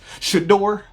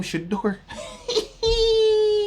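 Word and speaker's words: Shedeur: Shador. How you say his name? Shador.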